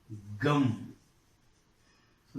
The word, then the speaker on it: gums: Gum. So the last sound is M. Add S to make it plural. It becomes gums. Z. This plural ending is pronounced as Z, z, z.